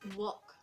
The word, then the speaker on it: walk: say it as walk because l is silent in it so you have to say just walk i'm gonna go outside